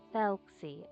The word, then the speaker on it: Thelxie: Thelxie. Okay, that's how you pronounce the name.